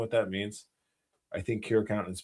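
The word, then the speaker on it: Curaçao: I think Curacao is pronounced Kiraku. I like Curacao. I think Curacao sounds better than Kiraku.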